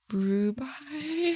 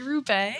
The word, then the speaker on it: Roubaix: Do they do the Harry Rubai? Harry Roubaix.